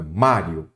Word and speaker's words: Mário: trago o mestre Mário Qual é a sílaba tônica Mário é o má então a sílaba tônica é a penúltima Então ela é uma